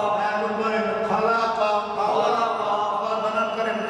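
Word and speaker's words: خَلَقَ: জবর কা, এখন বলেন খালাকা, খালাকা, আবার বানান করেন খা জবর, আবার বানান করেন লাম জবর লা, কা জবর কা, পরে খালাকা, আচ্ছা মিম জবর মা,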